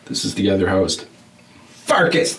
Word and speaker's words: Pfarcus: is the other host farkas the p is silent and uh yeah so